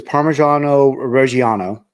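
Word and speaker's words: Parmigiano Reggiano: okay so it's uh the way it's pronounced is parmesano Rano and um I'm not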